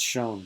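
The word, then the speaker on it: shewn: This is pronounced shown, by the way. The spelling has changed, not the pronunciation.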